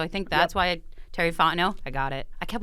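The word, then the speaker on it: Fontenot: change that so I think that's why Terry fno I got it I kept wanting to say f not but it's not that the tea is silent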